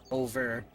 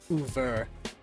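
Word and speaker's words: oeuvre: Body of work but fancy French. Yes. Closer to Uver.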